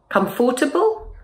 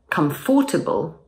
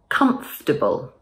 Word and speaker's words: comfortable: Comfortable? People will understand you, but it doesn't sound very natural. Instead, let's drop the or sound and it will sound much better. So instead of comfortable, say comfortable.